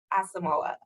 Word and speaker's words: Asamoah: right no problem it is asamala asamoah okay gotcha thank you so much of course